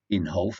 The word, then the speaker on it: Inhofe: this story on David Icke on Republican Jim Inhofe it's called in holf I did check the pronunciation that's what they said it was Jim